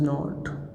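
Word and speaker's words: know: फिर हमें नॉट यूज करना है, ही डज नॉट। फिर वर्ब जानना, जिसको अंग्रेजी में बोलते हैं नो, ये के साइलेंट रहता है और उच्चारण होता है नो।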